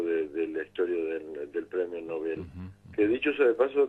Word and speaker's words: Nobel: Pero en realidad el acento hay que ponerlo en la E, Está porque el hombre se llamó Nobel y se pronuncia Nobel.